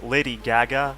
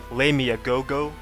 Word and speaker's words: Lady Gaga: There was Lady Gaga, and he pronounced it like "Lay me a go-go," and he made an example like what was he saying?